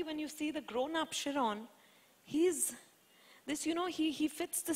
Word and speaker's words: Chiron: I still don't know how to pronounce his name. Chiron. Chiron, okay. Is that right? Chiron.